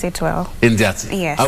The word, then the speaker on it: Indiatsi: And of course, she is known as Indiatsi. Indiatsi, yes. Yes. You pronounce it well. Indiatsi. Yes. I pronounce it well.